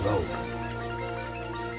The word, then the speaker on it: Raab: It's pronounced Raab.